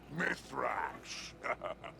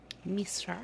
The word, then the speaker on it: Mithrax: Spider is better than Fallen, and no worse than your old man letting the Guardians call him Mithrax. Yes, some of them struggle to pronounce his name. Misra.